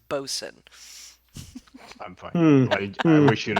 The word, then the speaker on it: boatswain: Also, it's pronounced bosun. Don't want to be a butthead. I know it's spelled boatswain. It is pronounced bosun.